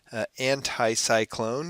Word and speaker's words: anticyclone: And again, a good way to remember anticyclone, if you pronounce that word just right, you can hear the word high in the middle of it.